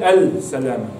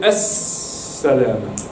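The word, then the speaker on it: السلامة: Mi raccomando, qui si legge, non si legge al-salama, si legge as-salama. Come faccio a sapere che è as-salama? Se c'è shadda dopo al, se c'è shadda e non c'è sukun al-lam, leggo as-salama.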